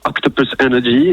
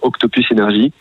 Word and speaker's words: Octopus Energy: Ah ouais, alors déjà, si vous voulez dire Octopus Energy, il n'y a pas de problème, mais en fait, clairement, nous, on prononce plutôt Octopus Energy.